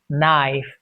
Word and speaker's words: knife: Knowledge and knife. Knife and night. Knowledge. Knife. Knight. K is silent in combination of KN in the beginning of a word.